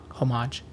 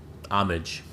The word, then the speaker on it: homage: homage and by using huh homage homage homage all three ways man I don't think you can say it wrong yeah that's pretty dope